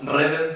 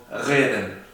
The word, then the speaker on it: reden: O sea, no decimos reden, sino decimos reden.